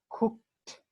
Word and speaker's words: cooked: You hear at the end the sound of the letter T. It sounds like a T at the end. We don't pronounce the vowel E in these cases.